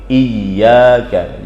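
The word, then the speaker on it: إِيَّاكَ: Kata Imam Ibnu Katsir, ini tidak boleh dibaca tanpa tasydid, harus dengan tasydid. Iyyaka.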